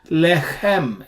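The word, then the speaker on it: לחם: Chet, in the Sephardic pronunciation, is not pronounced as harshly as chaf. Whereas in Israeli pronunciation, of course, they pronounce both chet and chaf in the same way.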